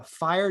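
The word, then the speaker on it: Phyre: channel it's called uh fire dojo and it's spelled p-h-y-r-e so not fire f-i-r-e um it's like uh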